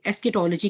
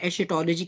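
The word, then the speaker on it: eschatology: बहरहाल उनको, और फिर ये जो एंड ऑफ टाइम्स का सब्जेक्ट है, इसे हम एस्केटोलॉजी कहते हैं या एशेटोलॉजी कहते हैं। एशेटोलॉजी आप कह लें, ये 2-3 तरह से प्रोनाउंस किया जाता है।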